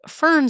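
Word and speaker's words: firn: Instead, it's f i r n. Fern snow. It's more pronounced uh yeah, it's just pronounced a little bit differently, but it is basically snow that survived at least one melt.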